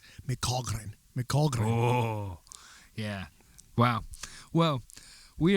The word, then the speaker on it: McCaghren: in it for some reason the most common mispronunciation is with a ph mcafern mccaffren but even the way that my family says it can't it's not correct it's irish it's michogren mcauldron yeah wow well we are here post-practice